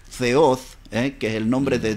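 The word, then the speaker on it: θεός: compuesta a significa sin y theo que en realidad en idioma griego se pronuncia feos en que el nombre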